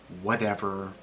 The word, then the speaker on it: whatever: the way it's pronounced we don't actually pronounce the t in whatever as a normal t it turns into a d sound whatever turns into whatever the next example viral